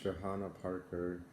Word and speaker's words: Johanna Parker: It's either Joanna Parker or Johanna Parker. I'm assuming it's Joanna Parker, but I've heard of both versions. Some people say Johanna Parker, some people say Joanna Parker.